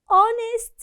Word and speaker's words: honest: number two ahmad is honest man ahmed is honest honest so the word honest here begins with consonant letter but when we pronounce it we notice that we pronounce a vowel sound so oh honest here